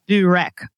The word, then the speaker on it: byrek: a little bit easier, is called burek. It's spelled Byrek.